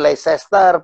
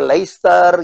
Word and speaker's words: Leicester: Tim Leicester itu disebut Leicester, padahal nyebutnya harusnya Leicester gitu.